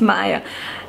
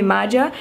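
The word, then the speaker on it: Maja: it as a why so the J is pronounced as Y so it's not magic it's Maya when I use my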